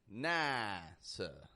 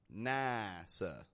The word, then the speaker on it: NASA: And work on getting a nice clear ah versus an A sound. NASA.